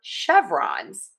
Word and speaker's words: chevrons: And then we are going to stress syllable number one and chevrons. Chevrons. Chevrons. Chevrons. Chevrons. Yes, ending in that Z sound, we typically say a